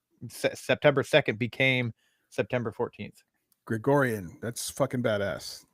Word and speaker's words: Gregorian: Gregorian. That's fucking badass. Gregorian. Yeah, you're right. You're right. I always say Georgian.